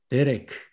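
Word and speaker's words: דרך: 또 데레크, 길입니다. 이때 액센트가 여기에 있습니다.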